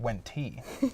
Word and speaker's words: Wente: I believe it's pronounced Wenti. I wish I knew. Like she went to tea.